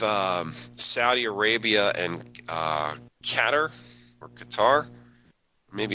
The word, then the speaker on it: Qatar: at all just fantastic katar uh the BBC pronounce it catar okay thanks yeah I I've had heard it pronounced gutter katar katar I I've um I've heard it pronounced so many different ways uh anyway um and